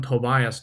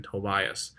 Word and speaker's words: Tobias: 你看这个叫做 Tobias 啊，你可以读成 Tobias，其实都 OK 了啊。正确的话是 Tobias 啊，肯定不是一个